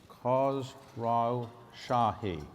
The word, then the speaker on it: Khosrowshahi: today to have the CEO of uber Derek cause raw shahi perfectly said how many people pronounced that correctly the first time you're in